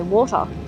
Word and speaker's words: water: they're like what yeah Americans don't spell it with a T they spell it with D's yeah Americans can't pronounce the letter t yeah water butter butter off water and butter deal with it yeah yep it's not it's not the T sound though in water it's the um the